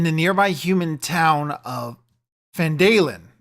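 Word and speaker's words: Phandalin: were good in the nearby human town of fandal pronounced fand felin Falin uh prospered as well but then disaster struck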